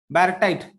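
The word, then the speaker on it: baryte: Next salt है guys बैरटाइट, बैरे बैरे बैरेटाइट, बैराइट, क्या बोल सकते हैं? देखो प्रोनाउंस देख लो, BARYT, बैरेट, बराबर ना।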